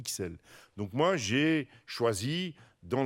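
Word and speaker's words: Ixelles: dit xl par contre il ya un quartier de bruxelles qu' on ne peut pas dire hissel on dit xl donc moi j'ai choisi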